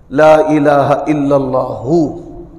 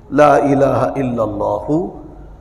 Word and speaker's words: لا الہ الا اللہ: میں کامیابی کے لیے کلمے کا صحیح جو تلفظ ہے وہ بھی ہمیں ازبر ہونا چاہیے، بچوں کو بھی ازبر کروانا چاہیے۔ لا الہ الا اللہ، نہ ہا پڑھنا ہے